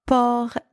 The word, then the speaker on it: port: not o o and the final consonant T here is silent in the second word